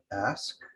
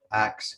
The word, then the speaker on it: ask: what is bothering you ask is ask um this is not a mispronounce iation of ask and I'll have more to say about these sorts of words later on as well it is a dialect word found in many parts of Britain today uh acts instead of ask so it's not a